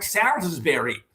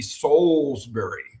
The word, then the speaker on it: Salisbury: names because they'll go, "Oh, it's it's Salsbury." and I'll go, "No, if you were in London, it would be Soulsbury, right? That would be the way it would be for now."